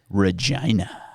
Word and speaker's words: Regina: The city of Regina, for those who are not from here, that is how you say it. Regina.